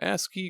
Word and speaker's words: ASCII: exit he says I don't know how to pronounce this a c i i is it just a asai okay yeah ask key grip controller for PS1 which is a one-handed